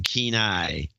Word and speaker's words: Kenai: Kelly from Kenai. Sounds like Keen Eye. Kelly from Kenai. $500. This is going to be a long episode today. Kelly from Kenai.